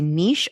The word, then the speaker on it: niche: want to sound fancy so I'll say Niche until I have to use the catchphrase the riches are in the niches and then I'll switch the way I pronounce pronounce it but she comes in